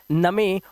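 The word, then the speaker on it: gnome: एन से पहले जी है। इसे पढ़ते हैं नोम।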